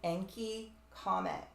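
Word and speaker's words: Encke: the wake of the enki Comet um it's spelled e n c k e very close to the name of the Sumerian god enki which is literally tied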